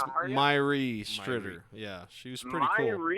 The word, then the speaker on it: Mháire Stritter: How do you pronounce her name? Maria? It's Mháire Stritter.